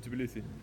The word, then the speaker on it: Tbilisi: Is that how you pronounce it? Tbilisi.